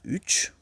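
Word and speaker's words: üç: Donc les nombres, le 1, on dit bir, le 2, on dit iki, le 2, on lit ça iki, le 3, on lit ça uch, le 4, dot, le 5, ça se lit besh, le A, le 6 plutôt, alt, alt, alt.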